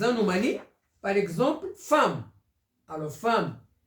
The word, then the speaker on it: femme: par exemple femme alors femme ça s'écrit avec E et se prononce avec a femme second ça s'écrit